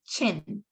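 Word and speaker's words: Qin: in it but they're not pronounced Q it's pronounced so instead of so it'll be chin um when I with this this one right here the first one is pronounced chin just to let everyone know because I I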